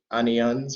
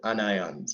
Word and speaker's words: anion: The negative electrolytes are the anions or anions, as I sometimes refer to them as.